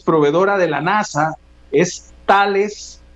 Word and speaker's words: Thales: que lidera el consorcio se llama tales y se escribe t h l ese es un nombre